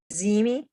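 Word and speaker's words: Ziehme: Zimi, Okay, can you spell that?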